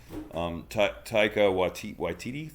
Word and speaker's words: Taika Waititi: And for those of you guys that are not in the know, Taika Waititi, that's how you say it, of course.